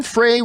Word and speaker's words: Frey: And our first main topic today gets submitted to us by Jason Frey Rhymes with Rye, writes, I read an